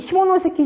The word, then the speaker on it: 시모노세키: 발음에 유의하세요. 뭐냐면은, 자, 시모노세키 조약.